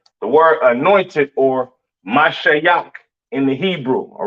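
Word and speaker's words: משיח: right is the Assyrian spelling for anointed or mashia in the Hebrew you have your maah sha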